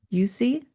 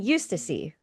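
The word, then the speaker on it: Eustacie: So, I'm thinking Eustacy. Eustacy. Yeah. You're probably right. I'm just going to I'm going to Eustacy. Eustacy. Yeah. Eustacy. I think because I don't know how I was thinking it in my head. You know how when you read to yourself quietly, I think I was saying you Stacy.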